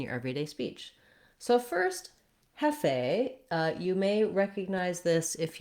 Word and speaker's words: Hefe: and I used the Hefe filter. And then we have first syllable stress, so hef is long. And then this letter E, they're saying as an A sound.